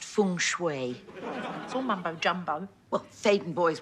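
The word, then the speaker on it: feng shui: the beginners book - fing schooi it's pronounced Fung Shui mumbo jumbo well Satan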